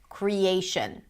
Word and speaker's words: creation: And then the final syllable is reduced, a schwa, shin, creation, right?